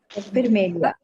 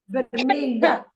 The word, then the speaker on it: vermelha: Vermelia. This is a new sound for English speaking people. Yeah. Okay. A floor è vermelha.